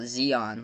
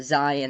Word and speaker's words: Zion: game asked me about Zeon like that was the that was the first time that he heard heard about Zion and he pronounced him Zeon oh wow yeah that's